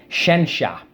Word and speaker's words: scientia: So science actually comes from Latin scientia, which is why this is spelled this way, because back in Latin, this sort of made a sh sound. Scientia.